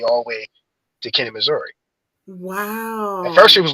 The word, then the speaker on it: Missouri: And they say it's like Missouri, and that's the other thing you get to learn how like the locals say. I was like, oh, it's not. It's not Missouri. We call it Missouri.